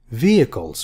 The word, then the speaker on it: vehicles: what do you think vehicles vehicles H is silent vehicles will be like in